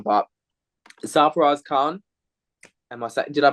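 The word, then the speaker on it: Sarfaraz Khan: saf I'm going to butcher his name but safuras Khan am I did I pronounce that correct safas Khan right right safas Khan so my my takes on that is I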